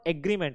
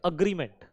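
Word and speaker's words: agreement: अच्छा, this is नॉट एग्रीमेंट है ना, हम इसको प्रोनाउंस करेंगे अग्रीमेंट।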